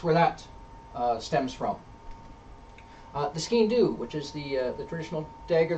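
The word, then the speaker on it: sgian-dubh: So it was often skean-do. Let's look at the origin of the word first of all. It's spelled funny. It's Skiandubh. It's pronounced skean-do.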